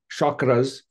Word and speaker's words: chakra: Oh yeah, you mentioned chakras. I won't go too much into chakras. It's actually chakras is the proper Sanskrit pronunciation.